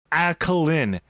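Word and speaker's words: Alclien: Alkaline. Alen. That's how you say his name. A L C L I E N. Alkine. I can't help if past him didn't know how to spell, but he's pronounced alkaline. Okay. Get it right, please.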